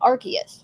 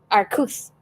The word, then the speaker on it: Arceus: Originally, they were going to say Arceus, but then they realized that that's too close to the way the British say the word ass, and so they changed it.